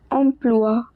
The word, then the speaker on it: emploi: Also, the pronunciation of OI is "wa". So "emploi".